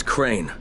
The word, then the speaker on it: Crane: store no my name's crane crane crane rhymes with train and brain and sun and grain and rain and plane and the other kind of plane and and can i